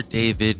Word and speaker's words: D4vd: His stage name is D4vd. Right, but I think it's pronounced David.